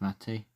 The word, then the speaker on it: MATE: And the final one is mate or matey. I think it I think it's pronounced matey.